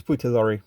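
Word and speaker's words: Peter Lorre: age more or less Peter Lori or Peter Lore I think it's Peter Lori to pronounce it Peter Lori um he should talk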